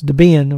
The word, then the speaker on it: Debian: was ian and so they combined their first names deb and ian and so that's debian or now it's called debian but it's debian which is really the way it should be pronounced mx repos here so